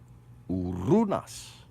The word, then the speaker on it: Uranus: Urunas. Urunas. Okay? That's how that's pronounced. Like you're calling a bird.